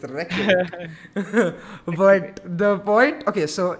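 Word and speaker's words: Reykjavík: sat on stream tomorrow, and with my chat, I learned the pronunciation. It's Reykjavik.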